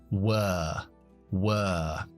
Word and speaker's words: were: En este caso, como lleva la W delante, que muchas veces cambia el sonido de los diptongos o de las sílabas, se convierte en la schwa larga. Were.